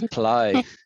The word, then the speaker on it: plough: the farming area but it's not plot right it's ply ply okay ply now i'm saying